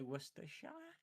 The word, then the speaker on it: Worcestershire: Worcestershire sauce. Or Worcester sauce. Either way. Worcestershire sauce. Can you say Worcestershire? We call it Worcestershire sauce. Worcestershire. Oh my god, that's amazing. Worcestershire sauce. Wor- Worcestershire.